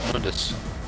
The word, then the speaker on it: Mundus: in the original I can't remember yeah it's pronounced Mundus now the g r blood rage oh